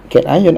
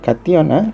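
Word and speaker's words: kation: Ada sebut cation, ada sebut cation.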